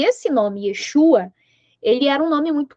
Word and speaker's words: Yeshua: Eh, o Iésus é uma uma transliteração do nome hebraico que é o Yeshua, tá? Ou tem tem outras eh forma de falar eh dependendo da pronúncia que é Yesua, é Yeshua, tá?